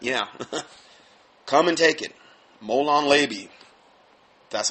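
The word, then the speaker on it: Molon labe: Molon Labi.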